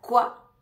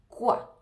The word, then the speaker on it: quoi: contestarle varias cosas ya saben que la palabra CUA en francés significa que CUA la o y la i da el sonidoa la U se pronuncia como una k CUA CUA significa que pero en realidad en la